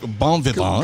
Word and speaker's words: bon vivant: John Kovalik, bon vivant. Could we get a pronunciation on that?